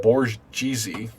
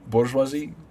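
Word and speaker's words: bourgeoisie: the idea slate bouris so that's how it's pronounced uh bisi I always I always said borzy boresi how come no one ever correct me it's bisi bourjois it was amusing sounds like a pasta boresi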